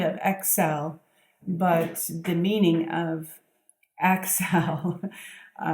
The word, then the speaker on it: Accel: spelled ACC e ow it sounds like Excel obviously but it's more you know like the root of the word accelerate and I believe that's